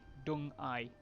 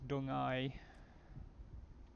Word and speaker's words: Deng Ai: D-E-N-G-A-I. Dung Ai. I mean, that's as close as I can get. It's probably not correct, but... There's Marchal. EN sounds in Pinyin are more of a UN sound, and ENG are more of a UNG sound.